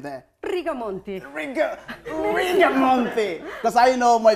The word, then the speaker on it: Rigamonti: How do you pronounce the last name there? Rigamonti. Rigamonti. Because I know my viewers are like, Jesus Christ, get it right. It's Rigamonti.